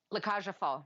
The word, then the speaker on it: La Cage aux Folles: Because you know I won't pronounce it right. La Cage aux Folles.